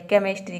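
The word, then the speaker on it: chemistry: है रसायन शास्त्र केमिस्ट्री यहां पे देखिए सी एच को हम क प्रोनाउंस कर रहे हैं यहां पे सीच को च प्रोनाउंस नहीं किया जा रहा है तो ये कुछ वर्ड्स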